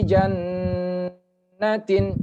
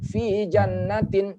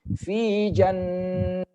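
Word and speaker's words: في جنّاتٍ: harokat contohnya nih V jannatin jannatin didengungkan Jadi tidak boleh bacanya fijanatin cepet fijanatin salah itu kalau dia diatas huruf nun maka harus didengungkan fijanatin jannatin begitu tapi kalau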